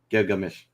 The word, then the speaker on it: Gilgamesh: middle of the name so it says it's gear like mesh so you we're just taking out the g uh that's in the middle of the name gilgamesh i think i said